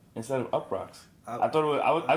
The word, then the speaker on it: Uproxx: that was always you it was ruckus that's how you say it up rocks yes you p r o